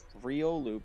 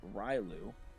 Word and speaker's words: Riolu: When Lumian screws up the name Riolu by saying Ryu and I correct her every time it's Rio and she says it back silver for silver.